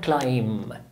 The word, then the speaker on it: climb: بإيديه ورجليه فدي اسمها climb climb C L I M B احنا هنكتب البي بس مش هنقولها climb اسمه silent letter